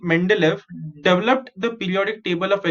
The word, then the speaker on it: Mendeleev: of the scientist okay m e n is men d is day l e e okay so the russian scientist dimitri mendelev developed the periodic table